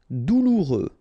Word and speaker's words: Douloureux: Douloureux, remember final X not pronounced, so you get this OU together, ou, douloureux, douloureux.